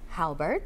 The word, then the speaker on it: Halbert: Halbert, did I say it right?